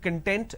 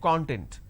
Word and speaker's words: content: a different meaning altogether for example content and content these are two different words but we interchange a